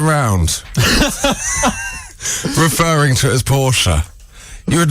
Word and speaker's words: Porsche: company's name is pronounced porsche in german orthography the word ending in e is not silent biz instead a stressed